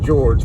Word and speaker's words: Georg: It's almost spelled like George, but it doesn't have the E on the end, so it's Georg Hegelian.